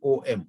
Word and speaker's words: Om: When we write in English, therefore we have to write A-U-M instead of writing O-M, Om. And in the pronunciation of Om also, Akara is the shortest. Longer than Akara is the Ukara and the longest is Makar.